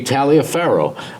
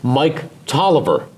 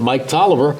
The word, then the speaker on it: Taliaferro: that it was that if you were to pronounce it just on the spelling it would be Talia Farrow but he pronounced it Mike Toliver really yes he pronounced it Mike Toliver so it was Mike